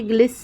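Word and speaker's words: glisten: है दोस्तों तो जैसे ग्लिस ग्लिस लिखा हुआ है तो आप देखिए जी एल आई एस टी ई एन है तो वहां पे टी साइलेंट हो जा रहा है मैच एम ए टी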